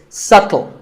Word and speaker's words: subtle: you say it it's subtle the b is silent subtle means something that